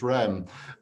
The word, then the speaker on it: Reims: When you go to Reims, it's Rem. But when I looked up how to pronounce Moe and Shandon, it said that it